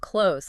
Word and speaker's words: clothes: Lisi says the most common way to say it is just close. Like closing a door. It rhymes with rose.